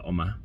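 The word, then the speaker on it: 엄마: It's the Korean word for mother, Uma. Uma. The reason I say it like that is because that's how one of the characters in Kim's Convenience says it.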